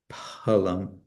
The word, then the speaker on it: phalam: So patrum is the unaspirated patrum. uh pushbum also and then palm uh is trans transliterated phalam toyam.